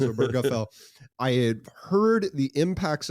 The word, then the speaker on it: Obergefell: The Obergefell case, Obergefell, not Obergefell, not Obergefell. 4 syllables, Obergefell.